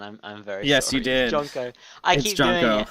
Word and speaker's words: Jonko: that I I just pronounced your name as yonko again I'm I'm very jonko I keep doing it's